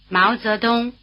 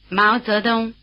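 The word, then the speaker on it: 毛泽东: Hào, Hào, Hào The diphthong "ao" is spelled AO as in "Mao Zedong", in Chinese: Máo Zédōng, Máo Zédōng Try repeating.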